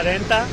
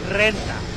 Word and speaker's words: renta: first recorded a take, I said la renta, and then my friend was telling me renta. Yeah. You have to roll your R.